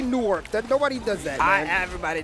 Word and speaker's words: Newark: How do you say Newark or Nork? Nork. Nork, is that how we say it? Nork. There's a little W in there, but if you say Nork like N-O-R-K, you'll pass.